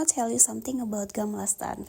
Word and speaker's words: Gamla stan: Oke, sambil kita explore, I want to tell you something about Gamlaston. Kalau Swedish pronounce-nya it's Guml Stone.